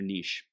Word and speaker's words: niche: that allow them to stand out in their niche, or niche, however you want to pronounce it.